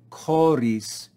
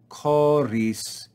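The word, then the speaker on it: χωρίς: accent we then have the word koris koris and you see a grav accent telling us to fall coris we then again have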